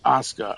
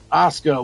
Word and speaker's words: Asuka: But I mean, Kana was Assuka or to say it properly, Asuka was Kana, you know, back in the day.